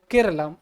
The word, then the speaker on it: Keralam: मलयालम में अगर हम केरला को प्रोनाउंसिएशन करते हैं तो वह वर्ड निकल के आता है केरलम।